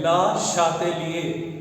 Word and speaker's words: Le Chatelier: ये French scientist है और इनका जो ये फ्रेंच नेम है इसका जो करेक्ट प्रोनाउंसिएशन है वो है ला शातेलिए। बोलिए एक बार। ला शातिलिए। ला शातिलिए प्रिंसिपल, इसको जिन बच्चों को फ्रेंच नहीं आती है वो ली चैटलियर प्रिंसिपल भी बोल देते हैं, बट करेक्ट प्रोनाउंसिएशन जो है इसका वो ला शातिलिए प्रिंसिपल है।